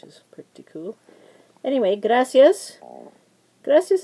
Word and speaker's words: gracias: pretty cool anyway gracias gracias is actually a two- syllable word graas because of the blend here similar to this one two vowels together so the I a is but it's y so it's one sound graas so once again because